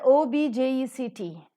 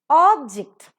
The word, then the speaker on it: object: similarly is the word o b j e c t object if it is a noun object if it is a verb see the difference in pronunciation difference in stress and difference in the